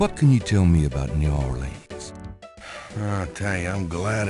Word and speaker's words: New Orleans: It's pronounced New Orleans.